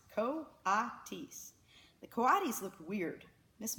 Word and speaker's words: coatis: Brisbane said reading from the letter pronounced co-op teased the coatis looked weird miss Mac looked gorgeous